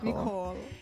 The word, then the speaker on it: Nicole: Like knee, like the knee, like you pronounce Nicole. the knee. Nicole.